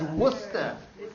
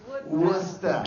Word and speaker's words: Worcester: How do you pronounce WPI? Worcester Institute of Technology? No, it's Worcester. Worcester.